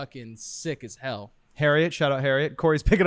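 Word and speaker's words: Heriot: ] sick as hell Harriet shout out Harriet Cory's picking up his phone right now it's spelled h I'd be saving h-e-r-i-o-t harriots like Chariot but Harry yeah yeah uh they're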